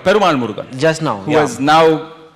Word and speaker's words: Perumal Murugan: How do you pronounce it? Perumal Murugan.